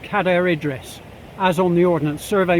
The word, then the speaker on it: Cadair Idris: Now for the whole area I'm going with Cadair Idris, as on the Ordnance Survey map, spelt C-A-D-A-I-R.